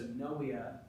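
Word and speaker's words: pnea: the Greek meaning breath you don't pronounce the P it's silent so noea uh this would be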